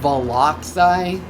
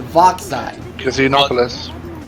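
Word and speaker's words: Vo'xai: stop you right there are you pronouncing it velai oh whip that's how I always pronounced it it's voxai okay here we go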